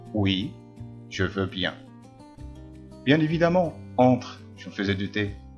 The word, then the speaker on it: évidemment: Cédric, bien évidemment. Bien évidemment. Bien évidemment. Alors, ناخد بالنا هنا. قلنا évidemment، ما قلناش évidemment. الأ هنا نطقت كحرف الأ.